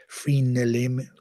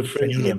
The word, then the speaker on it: frenulum: And then they go into why the frenulum, I don't know how to pronounce that, but there you go.